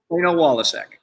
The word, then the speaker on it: Waliczek: So it's just Waliczek.